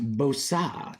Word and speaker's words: Bosa: It's pronounced Bosa.